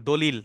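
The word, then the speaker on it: دليل: আল হুজ্জাতা আলাইহি অর্থাৎ হুজ্জাতুন মানে হচ্ছে প্রমাণ দলিল দলিল আমরা যে বাংলায় দলিল বলি না এই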